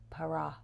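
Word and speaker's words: פרע: And that is actually the most dramatic interpretation of that word, which the Hebrew word is Para. You're supposed to roll your R's. Para.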